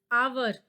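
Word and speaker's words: hour: आर, आवर, तो हमारे पास एच क्या है?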